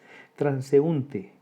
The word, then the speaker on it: transeúnte: Transeúnte, 4 sílabas.